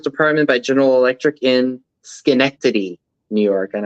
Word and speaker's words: Schenectady: by General Electric in Schenectady, New York. And I only know how to pronounce that from Mary, a Reclaimed Treasures by Mary. I would have pronounced it Schneckdaddy. So it says Schenectady. It's like me pronouncing Greenwich Village, Greenwick Village.